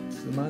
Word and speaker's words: 都万: この曲で俺は初めて妻という地名を知った。トマンと書いて妻と呼ぶ。